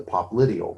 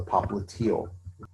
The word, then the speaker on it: popliteal: side of that knee, we call it the popliteal or the popliteal. And so either one of those pronunciations is just fine, but it's going to be on the back side.